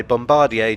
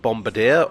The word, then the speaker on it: Bombardier: 345s were built by Bombardier transportation which I'm told is not pronounced Bombadier or indeed bombad they're part of the